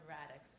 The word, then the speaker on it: Radics: let's dive in good morning Dr Christina radx am I pronouncing that correctly right yeah it's perfect it's